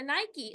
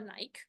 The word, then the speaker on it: Nike: So Nike or Nike, depending upon how you like to pronounce it, what it does is, because designing is their specialty, they design their shoes and their products.